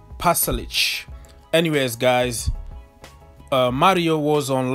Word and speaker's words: Pasalic: This is the first time that I managed to pronounce Pasalic. I always like pronounce Pasalic, Pasalic, or whatever it was, but I'm happy that I can correct myself and pronounce Pasalic.